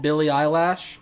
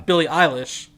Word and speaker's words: Billie Eilish: She's sort of a thrift store version of Billy Eyelash. Yeah, Or and I would even... Billie Eilish.